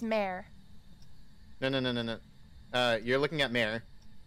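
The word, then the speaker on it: Mare: we're not getting uh no it's Amore no because we got freezing temps and ghost writing so we have a it's pronounced mayor uh you're looking at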